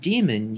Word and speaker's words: daemon: by convention the word daemon uses its archaic spelling here with an AE in place of the e in the modern spelling however the pronunciation is the same daemon is incorrect even